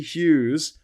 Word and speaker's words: Hughes: My name has got a ridiculous redundant G and a ridiculous redundant H in the middle of it.